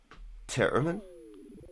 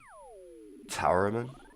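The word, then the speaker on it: Tarromin: Terraman or Towerman. I say tarot, like tarot cards.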